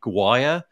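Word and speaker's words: Gwyer: been built by David, I'm going to say Guire. Does anybody know David? I think that's right. Okay. I could be okay. wrong. Yeah, David's sure surname is spelled, yeah. David's surname is spelled G-W-Y-E-R. So I'm going with Guire.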